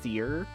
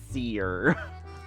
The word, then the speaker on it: seer: I know it's pronounced sear, but I like to say it as seer.